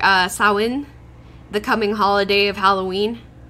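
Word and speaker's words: Samhain: know at least how to say like uh sawen the coming holiday of Halloween yeah it's not champagne although it does is a little easier for English voices it's sawen so it's it's like damn okay thank you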